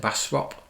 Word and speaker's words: Bastrop: test tunnel and bastrop and that's how you pronounce it bastrop test tunnel these are important kind of learning